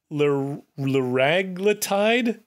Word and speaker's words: liraglutide: where I fall down, but randomized trial of liraglutide? Is anyone? Liraglutide. And really? I only know that because I looked up the pronunciation.